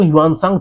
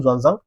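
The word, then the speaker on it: Xuanzang: जो थे, जैसे ज़ुआंगज़ांग, ये ज़ुआंगज़ांग बच्चे इसको ह्यूआनसांग थे पहले, ठीक है, ह्यूआनसांग ये पहले नाम था, अभी के समय में इसका प्रोनाउंसिएशन ज़ुआंगज़ांग और स्पेलिंग भी चेंज है।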